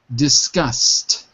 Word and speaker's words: discussed: Discussed. Discussed. Right. So when you have an S, the ED sounds like a T.